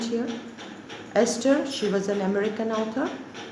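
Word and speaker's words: Estes: borrester the spelling b s o r s is silent here esther she was an american author date of birth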